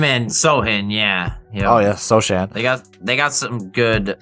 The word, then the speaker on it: Sochan: Oh yeah, Sochan. They got some good. No, it's Sohan. Is it Sohan? Or Sohan? Yeah. Sohan. Yeah, the C is silent. C is silent C.